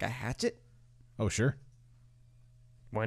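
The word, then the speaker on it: Sault: all that that would be ideal be great sure so someone was correcting the word from the Ontario that spelled sa ult is pronounced Su Su to how I would have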